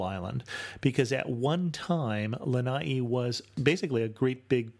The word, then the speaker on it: Lana’i: before the last I to indicate that it is in fact a separate syllable so as I was